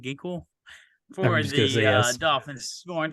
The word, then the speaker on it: Van Ginkel: followed by Van Ginkel. That's how you say his name, Ginkel, for the yes.